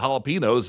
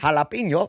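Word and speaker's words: jalapeño: I was in an Indians game and I was eating nachos with jalapenos and two kids in front of me.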